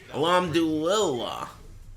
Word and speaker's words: Alhamdulillah: Alhamdulillah.